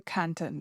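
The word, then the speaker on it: Cantan: my name i'm canton that's spelled can tan c-a-n-t-a-n i'm gonna mention two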